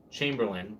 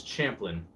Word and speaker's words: Champlin: Anyway, so he was saying my name, and he said Chamberlain, which one of my friends, his last name is Chamberlain, but my name is Champlin.